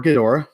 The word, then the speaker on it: Ghidorah: kid or a kid or a one or Ghidorah both pronunciations work MA aliens come in from the